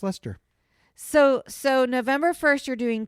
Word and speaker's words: Leicester: For this whole time, I've been in my mind thinking it was Leicester Square. No, it's pronounced Leicester.